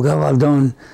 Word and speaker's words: Gabaldon: But she says, Dad, she says, I like the accent on the last syllable, Gabaldon.